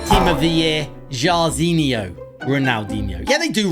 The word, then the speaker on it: Jairzinho: His name rhymes with Ronaldinho. Team of the year, Jairzinho.